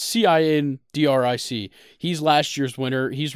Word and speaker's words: Cindric: It's either Cindric or Kendrick, but it's Cindric.